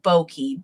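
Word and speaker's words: Boeki: Can you help me pronounce the company that this is? Yes, it is Nepan Yoko Bokei.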